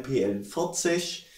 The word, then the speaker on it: PL 40: und ist eine KDM PL 40 falls die Frage kam 40 PL wir geschrieben aber wird ausgesprochen pl40 hat den mottyp T4